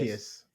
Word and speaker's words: Arceus: I looked it up how to pronounce it. It's 100% Yeah, it's Arceus. Arceus.